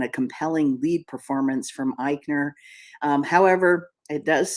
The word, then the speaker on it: Eichner: it's co-written uh by and starring Billy Eisner Eichner I think it's pronounced Eichner he's been tatted as the first mainstream Hollywood